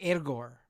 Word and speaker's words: Egor: It's like it's not Igor. It's like Egor.